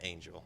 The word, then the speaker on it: Angell: How do you pronounce it? Yep. She said Angel.